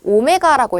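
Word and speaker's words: omega: 자, 그러면 뒤로 넘어가서 우리 angular velocity는 자, 이거 W 아니고 오메가라고 읽어요.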